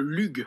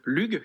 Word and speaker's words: LUGH: Le LUG, je crois que ça se prononce comme ça.